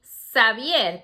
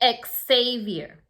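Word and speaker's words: Xavier: name in spanish we say this name savier because the x has a sound savier but in english people pronounce it ex-savior okay just make sure depending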